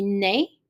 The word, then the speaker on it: net: So in the example for masculine is gonna be ne, so the T is silent.